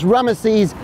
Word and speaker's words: Ramesses: saw it in the ancient Greek, and it's pronounced Ramesses, and by that they were able to combine both together and solve the mystery of ancient Egypt.